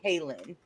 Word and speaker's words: Ktlyn: I think it's pronounced kin like because it's K and then L I think I kept putting a t in there but it's just kin um I think there's